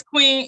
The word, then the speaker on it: Queen: have you said it's Queen yes this queen like Queen like how it's pronounced yeah so my mom